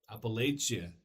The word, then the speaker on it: Appalachia: There's two ways to pronounce this area for some people. There's Appalachia and Appalachia. Appalachia.